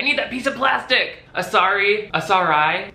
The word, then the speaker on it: Asarai: The brand is called Asarai. I'll spell it out for you on screen in case you're not getting it. A-S-A-R-A-I. Don't say it wrong, just read that and be right.